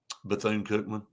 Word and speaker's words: Bethune-Cookman: Bethune-Cookman. What did I say it wrong or something? No. Well, you corrected yourself, but it sounded like you were about to say Buffoon?